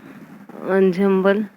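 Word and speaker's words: ensemble: एंजेम्बल होता है pronounced अंजम्बल, things here instrument, इसका मतलब कंसिडर्ड एज ए ग्रुप, एक ग्रुप की तरह, समूह की तरह होता है।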